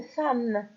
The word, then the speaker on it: femme: Ici on vous dit attention, une femme. Pourquoi on vous dit attention? Car le E ici ne se prononce pas E, mais il se prononce A.